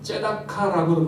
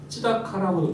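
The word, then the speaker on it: צדקה: 공의 공의는이 히브리어로는 뭐 발음이 조금 이렇게 저렇게 발음할 수 있는데 뭐 째다카라고도 발음하기도 하고 찌다카라고도 발음하기도 해요.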